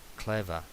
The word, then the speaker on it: clever: Recordamos clever, clever. Esta R es una schwa.